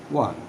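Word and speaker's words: won: এইখানে আমরা ওন বলে থাকি অনেকে, কিন্তু প্রকৃত উচ্চারণটা হবে ওয়ান, অর্থাৎ দে আর team had ওয়ান the game.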